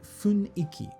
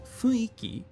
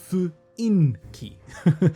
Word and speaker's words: 雰囲気: But this next word, funiki. So, funiki means the atmosphere, the feeling of something, the mood of something. Be careful. Often people mistake the pronunciation of this word. It is funiki, not fuinki. No.